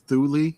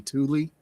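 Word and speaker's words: Thule: I'd like to say it's Thuli Air Force Base or maybe Tuli.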